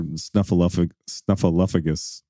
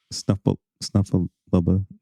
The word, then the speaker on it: Snuffleupagus: I don't want to hold another snuffleupagus. I said it wrong again. Snuffleupa. How many episodes are we going to mispronounce snuffleupagus?